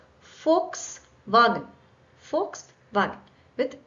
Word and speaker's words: Volkswagen: f just like J this needs to be pronounced with f not water now this is a very cliched example but Volkswagen not Volkswagen right FKS wagen FKS wagen with v